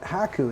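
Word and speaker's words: 百: out it's haiku and haku is how you say 100 and this is the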